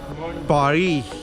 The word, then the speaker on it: Paris: पारी, एस is silent buddy, it's पारी।